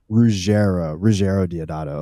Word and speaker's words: Ruggero Deodato: But yeah, the main thing that I want to ask is and correct me if I'm not pronouncing his name right, but Ruggero Deodato, the director? Ruggero Deodato.